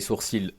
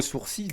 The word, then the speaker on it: sourcil: cette série d'animation Naruto le l de sourcil n'est pas prononcéi j'ai toujours dit des